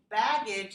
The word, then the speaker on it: baggage: baggage， Baggage has two G's, right? Actually, we only pronounce one of them. In spelling, we write two G's, but we only pronounce a g here.